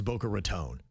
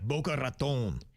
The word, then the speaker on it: Boca Raton: Yeah, Boca Raton. Boca Raton. Yes, it's tone, not ton, not tan.